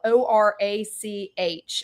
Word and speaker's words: orach: And for anybody that has never heard of it, it's spelled ORACH. I know I need to spell it because with my Southern accent, nobody's going to know what the heck I'm saying. So it's orach.